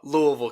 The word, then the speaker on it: Louisville: Louisville, Kentucky.